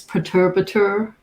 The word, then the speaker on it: Perturbator: I always say the name wrong, but because I'm not French, the French way to say it is perturbateur or But perturbator.